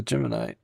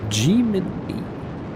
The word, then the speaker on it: Gemini: Gemini. Gemini? Gemini. Ah, there's a difference in pronunciation between the constellation and the mission.